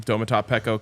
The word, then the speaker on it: Domata Peko: mentioned it the other day when the name domat PCO came up and that is the correct pronunciation we didn't have to wait on that